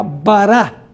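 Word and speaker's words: bara: La palabra creó en la Biblia, en el Antiguo Testamento, es la palabra hebrea bará. Bará B A R A con acento en la A final.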